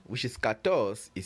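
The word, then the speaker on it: quatorze: e i z e TR 4 which is Kos is spelled q u a t o r z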